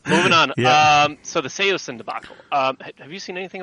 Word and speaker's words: Saosin: But I say it's Saosin, but originally it was Saosin. That kind of, and then it kind of took on a life of its own, and then people started saying it wrong, and everybody started saying it wrong. So yeah, it is Saosin, though. That is the correct way to say it.